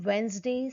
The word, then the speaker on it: Wednesday: Handsome, Wednesday, sandwich. Here you can notice silent D in the above mentioned word.